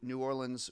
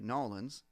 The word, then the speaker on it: New Orleans: So I go on this trip to New Orleans with New Orleans, or as they say, the locals say, Nolans.